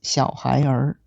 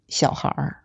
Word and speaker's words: 小孩儿: For example, 小孩 is not pronounced as 小孩儿 with two separate sounds at the end. It is pronounced as one merged syllable, 小孩.